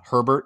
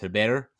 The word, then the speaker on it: Herbert: i think i kept i kept calling him uh herbert yesterday funny enough which i know better it's technically pronounced heber um he was one